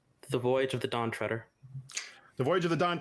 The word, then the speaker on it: Treader: of the Dawn Treader I've heard it pronounced reader a couple of times either way that's correct two points and Jimmy Deary is up to bat who pronounces it treater no I'm around french-canadian sometimes Alex they do in fact pronounce it that way he's fitting that you're